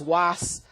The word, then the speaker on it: UAS: means great power okay so it's uh properly pronounced it's was um but lots of people know us lots